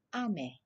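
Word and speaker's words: あめ: Thì vũ đọc là ame.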